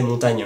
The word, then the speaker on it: Montaigne: nom de Michel de Montaigne donc philosophe français du 16e siècle dont le nom à mon avis se prononçait montagne et par exemple j'ai